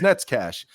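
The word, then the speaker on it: Nečas: get if you get the little diacriticals over the letters and you know that how that's pronounced it's Nets cash and I think the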